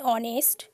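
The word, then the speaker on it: honest: আর এইচ দিয়ে যদি কোনো কাউন্টেবল নাউন শুরু হয় কোনো শব্দ এবং এইচের উচ্চারণ যদি আয়ের মতো হয়, আ যেহেতু স্বরধ্বনি, তাহলে সেই এইচের আগে অ্যান ব্যবহৃত হয়। An hour, an অনেস্ট, an honourable man.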